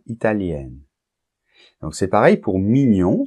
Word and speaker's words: italienne: par exemple italien italienne et là il y a une différence de prononciation puisque italien masculin on entend la nasale un Italien et italien féminin on entend le N la lettre N que on nentend pas pas dans le masculin italien italienne et en plus le